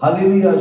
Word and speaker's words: हालेलुया: होना चाहिए यहां पर हालेलुया शब्द आने के समय इस तरह लिखा जाना चाहिए हाले लू एंड देन यहां पर या आना चाहिए ना ये हालेलुया जो शब्द